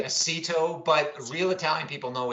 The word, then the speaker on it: Aceto: people know it's really Aceto, but I say Aceto. So I can't give you a hard time for mispronouncing it because I don't think I pronounce it right.